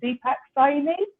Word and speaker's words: Deepak: Deepacy. Have I perfect? Awesome. Nothing worse than getting somebody's name wrong.